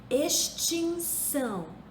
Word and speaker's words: extinção: como se fosse S extinção se escreve com x mas se pronuncia como se fosse um s Ok então com essas